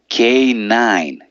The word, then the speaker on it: canine: Yeah, it's not intuitive. It's differently pronounced that it's written. So it's canine.